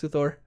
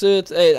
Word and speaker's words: Luthor: Lex Luthor spelled with an O, not an E. Some of my pet peeves. Everyone always going Lex Luthor. It's Lex Luthor.